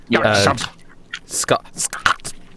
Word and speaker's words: Skuxub: Scott. That's how you pronounce his name.